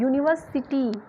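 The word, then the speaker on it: university: से तो स्टार्ट है, बट हम इसको प्रोनाउंसिएशन कैसे कर रहे हैं, प्रोनाउंसिएशन जब हम कर रहे हैं तो यहाँ पे हम कैसे कर रहे हैं य से कर रहे हैं, यूनिवर्सिटी य से स्टार्ट हो रहा है।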